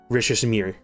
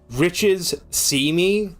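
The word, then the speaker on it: Richissime: Riches see me. That's how you pronounce it. Like the riches see you.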